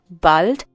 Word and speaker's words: bald: Please remember here that bald has the sound of A, like Hallo.